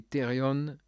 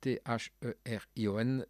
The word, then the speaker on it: therion: Comment prononceriez-vous cela? Zoon, je dirais zoon. Et therion, c'est T-H-E-R-I-O-N, therion, voyez-vous.